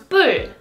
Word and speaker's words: 뿔: 불, 풀, 뿔.